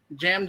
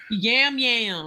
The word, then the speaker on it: Yam: No, his name is definitely Yam.